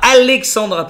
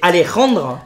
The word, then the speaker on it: Alejandra: Alors ce n'est pas Alexandra, c'est Alejandra.